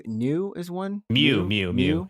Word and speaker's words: Nu: number one new what is V what's v v number V is it's not pronounced as V I believe so does it's that is pronounced as new actually new yeah new 13 oh so it's